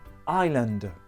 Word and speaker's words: island: la prononciation un indice il y à une lettre muet quand j'ai encore souffre ça m'a donné ce soir les chiffres alors une île en anglais se dit island une île déserte à